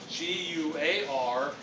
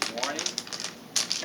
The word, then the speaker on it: Guarani: All right, The 90% of population speak an indigenous language called, now I will ask this, G-U-A-R-A-N-I, Guarani.